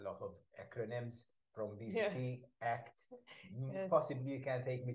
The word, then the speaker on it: ACT: So, CBT, DBT, but this one with ACT, we say ACT rather than ACT.